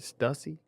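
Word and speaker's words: Stüssy: Stussy. Yeah. Stucey.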